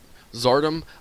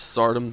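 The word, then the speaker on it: Tsardom: And so while a lot of people say it is Zardom, I like saying the TS together, so it's Sardom to me.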